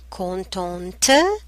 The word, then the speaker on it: contente: Content, the masculine form, content, contente, the feminine form. You pronounce the T at the end because we have the I. Content, contente.